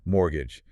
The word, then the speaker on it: mortgage: And then mortgage. They explain it's a specific loan for property. Right, and they mention the silent T, which is a practical pronunciation tip.